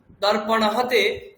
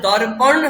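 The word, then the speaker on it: দর্পণঃ: তাহলে দর্পণ হবে না দর্পণাহ কামস হবে না কামসাহা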